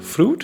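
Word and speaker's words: Froot: Okay, so the first song is called Fruit. I say it that way because it's spelt double O. I imagine like a little umlaut. It's not there, it's fruit.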